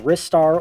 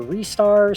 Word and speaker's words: Ristar: A lot of people say Ristar like Rising Star, which, yeah, that does make a lot of sense.